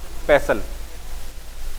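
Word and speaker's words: pestle: Rubber यानी rubber, और पेसल जानते हैं आप, खलबट्टे में नहीं होता, खल पेसल, टी साइलेंट है इसमें।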